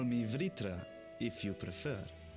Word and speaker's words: Vritra: welcome to call me vritra if you prefer they're actually pronouncing the oh no I thought it was just vitro I nearly accompany them